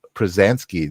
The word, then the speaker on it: Pruzansky: to the live stream of Consciousness pransky did I pronounce that right you did strangely enough so